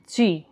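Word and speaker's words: ち: first stroke second stroke এটা হচ্ছে চি তা চি এটা একটু ব্যতিক্রম তা চি এরপর হচ্ছে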